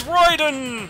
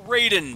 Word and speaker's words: Raiden: also makes Julian fries it's Royden a Raiden depending on how you pronunciate it electrolytes delicious delicious